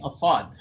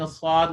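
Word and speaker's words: ص: people are pronouncing assad they make their mouth like a wow they're going to take their entire mouth and make it kind of like a wow they're going to make it round like like this fully round like a wow that's incorrect you're messing with the sound of the song swat is just so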